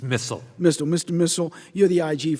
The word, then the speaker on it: Missal: Missal, am I pronouncing your name correctly? It's Missal.